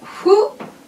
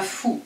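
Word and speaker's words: ふ: Le hu est davantage prononcé comme un fou. C'est sûr que ça dépend toujours des régions parce qu'il y a des accents aussi au Japon. Mais fou davantage.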